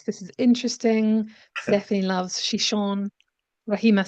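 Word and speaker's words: Xixón: region of Spain where the city name is pronounced shishon.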